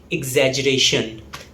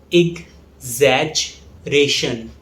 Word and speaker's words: exaggeration: The next word is exaggeration. Yes, it's difficult to pronounce. Let's pronounce it slowly. Exaggeration. Exaggeration. The stress falls on ration. Exaggeration. It's often mispronounced as exaggeration.